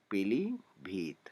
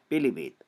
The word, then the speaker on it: पीलीभीत: क्योंकि जब हम इसका उच्चारण करते हैं तब हम छोटी ई का ही उच्चारण करते हैं, हमारे मुंह से पीलीभीत ऐसा नहीं होता है। पीलीभीत मतलब कि हम छोटी